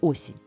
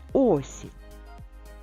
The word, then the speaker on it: осінь: тільки букв 5 так куди падає наголос в слові осінь на перший звук О а скільки звуків в